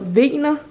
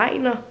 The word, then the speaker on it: Wegner: Det, fordi det staves W-E-J-N-E-R, så troede jeg, det var Wegner. Det ved jeg ikke, det var bare sådan, jeg læste. Og sådan, jeg har aldrig hørt hans navn blive sagt højt. Så ja, nu har jeg fundet ud af, at det udtales Wegner.